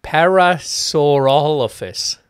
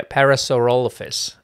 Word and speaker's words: Parasaurolophus: I need an 8-year-old autistic boy to be able to pronounce some of these dinosaur names. Parasaurolophus. Yeah. Parasaurolophus.